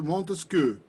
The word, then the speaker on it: Montesquieu: Él es profesor de francés y nos va a enseñar cómo se pronuncia. Charles-Louis de Secondon, baron de Montesquieu.